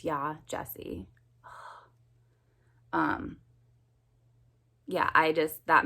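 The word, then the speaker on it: Yaa Gyasi: heck and in addition he didn't even say her name right and i feel like names are super important so if you're gonna bash this book at least say her name right it's yah jessie um yeah i just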